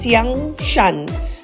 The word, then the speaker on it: Xiangshan: features the newly opened shangshan pronounced Xiang Shan fish Steamboat in ghani